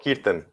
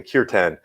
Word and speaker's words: kirtan: our yeah and and we have what they call kirtan or in the english pronunciation kirtan which is their version